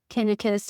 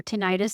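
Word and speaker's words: tinnitus: having problems with um tenus or 10 however you prefer to pronounce it ringing in my ear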